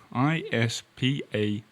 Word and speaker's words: Ispahan: got it spelt here, it's a croissant Ispahan, I-S-P-A-H-A-N.